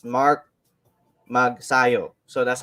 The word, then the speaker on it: Magsayo: people are actually pronouncing his name his last name wrong it's uh it's ma it's mark mag sayo so that's how they say it yeah yeah